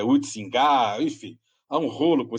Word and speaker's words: Huizinga: Eu chamo ele de Huizinga, os historiadores não gostam dessa pronúncia, é Huizinga, enfim.